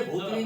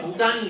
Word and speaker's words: भूटानी: एन आई मैं नहीं भले आदमी ये भूतनी नहीं है भूटानी है तो रोमन हिंदी के